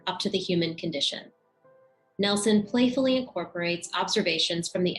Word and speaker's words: Nilsson: It's pronounced Nelson. I'm here to set the record straight. It's not Nilsson or Nielsen, because it's Nelson, because that's how her father pronounced it.